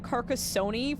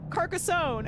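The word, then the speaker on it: Carcassonne: for like I think I was calling it carcassony for a solid week I was like sim he I was like I don't know how to say this and he said it's carcassony like macaroni and then I watches stream a week later and he's like, "Oh yeah, Carcassone." And I was like, "What?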